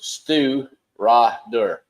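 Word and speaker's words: Stiùireadair: All that, and then below it they had a pronunciation for it. It says Stu Ra Dur.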